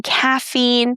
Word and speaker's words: caffeine: So in these words, guys, we don't pronounce a, we pronounce the long e sound as in caffeine, protein.